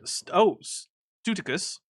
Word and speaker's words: Studicus: I pronounce it, Studicus, because English pronunciation is arbitrary.